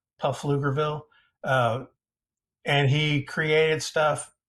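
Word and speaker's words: Pflugerville: a suburb of Austin named fluger with a silent P puff lugerville uh and he created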